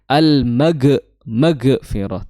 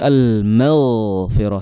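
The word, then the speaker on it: المغفرة: Jadi jangan almag maghfirah tapi almaghfirah dialirkan suaranya maghfirah bukan maghfirah.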